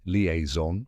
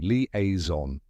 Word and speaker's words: liaison: of the word itself a lot of people say leaon or Le oron but now you know the right way leaon now the spelling tip it's spelled l i a i s o n yes there are two